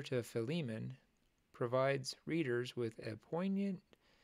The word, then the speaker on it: Philemon: it up and according to this F fiman fiman that's how you pronounce it fiman I always said fimon fimon okay the the books of First Timothy